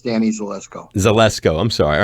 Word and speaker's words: Zelisko: you want just call me but it's danny zelisko zalesko i'm sorry all right zalesco uh forgive